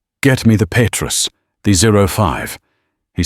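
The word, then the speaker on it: Pétrus: Petrus, the S, silent, the vowels pure.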